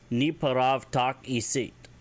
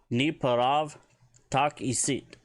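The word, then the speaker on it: N'eparavu takisit: Ni paravu tak isit. Kind of wondering why they left that U off of there on the pronunciation. Maybe it's a silent one. So, Ni parav tak isit.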